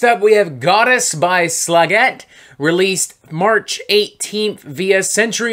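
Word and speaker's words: Slægt: And before somebody gives me shit, the band themselves told me that their name is pronounced Slagette.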